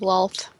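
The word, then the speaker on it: Loalth: Well, Borg is just going to get a symbol of loft.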